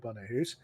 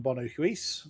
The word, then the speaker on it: Bono Huis: is where I first came into contact with Bono Hus. Uh I was forever calling him Bono Huis. So add him to the list of names I've pronounced wrong over the years.